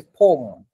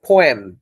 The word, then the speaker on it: poem: উনি পোয়েম কে বলছে পোম। So I got very confused যে why she is uttering this word poem. Okay, but দেখেন ব্রিটিশরা কে বলছে poem, 2 syllable, right?